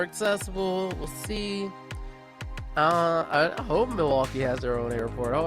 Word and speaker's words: Milwaukee: It's Milwaukee.